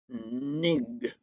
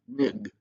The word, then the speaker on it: Ng: And it's by a author named Celeste, and I don't know how to pronounce her name because it doesn't have any vowels in it. Celeste Nig, N-G is her last name. N-G, Nig.